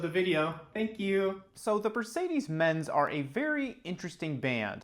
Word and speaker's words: the bercedes: This is the album called Mutist Beach by the artist the bercedes. Thank you so much, and please enjoy the rest of the video. Thank you. So the bercedes are a very interesting band.